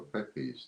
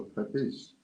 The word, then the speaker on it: Pepys: Next up, we've got a Samuel Pepys's, or a Pepys, depending on how you want to pronounce it.